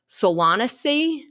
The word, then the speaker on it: Solanaceae: They're technically the edible parts of flowering plants in the, and I'm probably going to butcher this, but I think it's pronounced Solanaceae family.